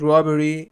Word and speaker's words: robbery: A violent robbery involving weapons. Robbery, the stress is on R, the first R.